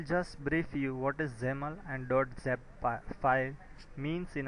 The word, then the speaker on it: XAML: The usage of XAML, Extensible Application Markup Language, pronounced as XAML, is a declarative XML-based language created by Microsoft,